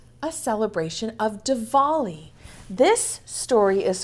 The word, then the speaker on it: Diwali: it has a w in it but it's pronounced devali heren takes out her Dia and some photographs